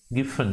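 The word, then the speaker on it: Giffen: तो ऐसे गुड्स को हम लोग क्या नाम देते हैं बच्चों लोग, गिफन। Sometimes they also call it as Jiphan, whatever it is, spelling बराबर लिखना।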